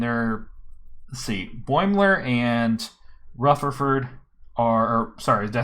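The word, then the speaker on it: Rutherford: the ship and there let's see boimler and rufferford are sorry did i say it right that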